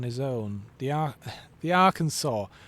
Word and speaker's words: Arkansas: We'll put an A and an R at the start and we'll pronounce it naturally Arkansas because that makes sense." I I'll be honest. I I keep I keep accidentally calling it our Kansas because god damn it should be our Kansas.